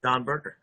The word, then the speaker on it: Dan Berger: Dawnberger at Dan Berger. Right. So it's it pronounced Dawn, spelled Dan.